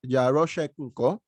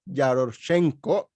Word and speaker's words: Yaroshenko: prisoner exchange with the u.s for constantine jerosha yaroshek sorry for the pronunciation constantine yaroshenko a russian smuggler convicted of conspiring to import